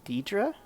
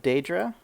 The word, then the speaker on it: Daedra: happening he calls him i think he calls him deidra instead of daedra i don't know i always went with uh daedra and i think that's the most common way it's pronounced now between most people there's other there there were people that i knew back in the day that would call them deidra and you know i